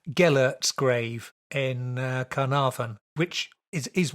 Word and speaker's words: Gellert: going to have to correct me on the pronunciation, Gellert's grave in Carnarvon, which is one of those